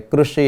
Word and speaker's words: कृषि: तो आपको भी ये समझना है कि जब रू गुजराती में बोलते हैं लेकिन हिंदी में इसका उच्चारण हमें री करना है, और यहाँ भी क के साथ ये री जुड़ा हुआ है, इसलिए ऋषि।